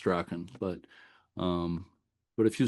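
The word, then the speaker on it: Strachan: I think it's s t r a h or is it ch h an pronounced straen but um but if you search Google for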